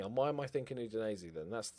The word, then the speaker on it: Udinese: Okay, all right, so immediately, we don't want B teams, but immediately, Udinese, that's how you pronounce it, it's not Udinese, Udinese, is available.